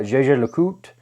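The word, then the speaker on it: Jaeger-LeCoultre: mind you've got uh jj le coute which is it looks like it's spelled like jaeger lecoultra they had the reverso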